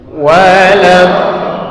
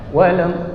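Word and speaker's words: ولا الضالين: Tasdidnya harus sempurna juga supaya dia kebaca huruf tasdidnya. Waladdallin. Coba. Waladdallin. Jadi kalau kita bacanya begini, lamnya belum masuk ya. Waladdallin. Lamnya belum tasdid. Jadi angkat lidahnya, ujung lidahnya angkat ke langit-langit depan tadi ya. Waladdallin. Baru turunin lin, dinempelnya sempurna ya, sama dengan cara ketika dia sukun tadi.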